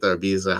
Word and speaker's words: Ibiza: Ibiza, the stuff from Ibiza, or Ibiza, however you say it. I say Ibiza, but technically it's written with a Z and it's pronounced TH.